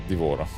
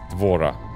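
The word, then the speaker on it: D'Vorah: have to Google that for now people okay devorah devorah yeah yeah devorah the bug lady okay I know I know that oh I accidentally closed the stream tab give me a sec devorah it's basically Mass Effect 3 is trying to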